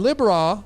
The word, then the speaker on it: Libra: into the house of Libra and Libra that's how I pronounce it some say Libra it's I pronounce it lib ra cuz ra is in there why is raw in